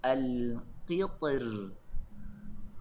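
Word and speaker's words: القطر: Manakala perkataan alqitr, Imam Ibnu Jazir memilih untuk membacanya dengan nipis. Disebabkan apabila kita baca perkataan ini disambungkan bukan diwakafkan, kita akan baca dengan baris bawah.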